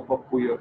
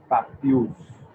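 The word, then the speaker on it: pappus: No papuya, please. Only papules.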